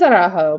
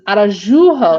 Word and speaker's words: Araujo: And then, see, it is Araujo because the Atlanta guy is Arajujo, and it's Araujo, and it's pronounced the same way.